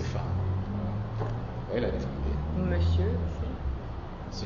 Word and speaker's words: femme: c'est un mot simple il faut l'écrire avec F 2 e et prononcer femme voyz la difficulté monsieur